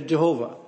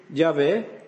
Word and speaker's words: Yahweh: the name what's now Jehovah it is not it's an artificial rendering so it would be better to read Yahweh why h v h